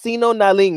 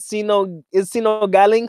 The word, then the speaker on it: Sino Galing: It's pronounced Sino Naling, right? Sino Galing.